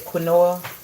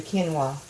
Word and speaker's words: quinoa: They pronounce it different, but this is, well, in the store it looks like, in how it's spelled, it looks like it says quinoa, but it's actually quinoa.